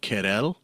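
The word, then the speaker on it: Querelle: It's called Kell in in in I'll spell it qu u E R Q sorry Q U E R E L L E.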